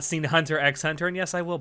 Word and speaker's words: Hunter x Hunter: I have not seen hunter x hunter yes I will pronounce the X no it's hunter hunter how dare you I